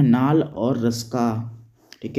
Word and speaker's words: Ruska: एक व्यक्ति हुए हैं, उनका नाम है नाल और रस्का, ठीक है, नाल और रस्का। यहाँ पे KNUL होता है, डबल L, और इसके बाद रस्का का स्पेलिंग है RUSKA, रस्का।